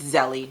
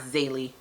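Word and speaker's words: Zélie: with Tomy yamy and realized we've been saying her name wrong and it's zy uh-uh no it's not it's zeli it's not zy uh-uh nope m- we're right you're wrong sorry iron flame I'mma also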